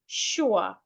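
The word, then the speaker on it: schwa: The sound is called a sha sound. Shwa.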